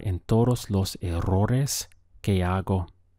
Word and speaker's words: hago: for I make is Argo Argo the H is silent so your pronunciation starts from here Argo how would you